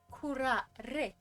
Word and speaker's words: curare: Where are you going with this a toxin known as curare. What the wait, I need the pronunciation.